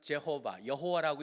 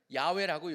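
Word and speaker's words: 야웨: 뭐냐면 하나님 그다음에 심지어 우리는 그냥 야외라고 읽는 어떤 사람은 제호바 여호와라고 읽는데 사실은 야외라고 요새는 우리나라도 서서히 바뀌고 있습니다 근데 원래 건 그렇게 읽는게 아니에요 발음은 야지만 이스라엘 사람들은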